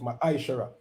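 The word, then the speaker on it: מעשר: in the hebrew and it's pronounced ma shara 10 of every penny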